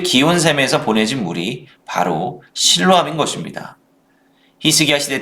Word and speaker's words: 실로암: 실로암의 히브리어식 발음은 실로아흐인데 이는 보냄을 받다라는 의미를 갖습니다. 즉 기온샘에서 보내진 물이 바로 실로암인 것입니다.